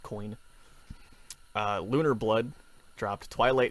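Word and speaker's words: Koine: coin it's spelled k-o-i-n-e i believe it's just pronounced coin uh lunar blood dropped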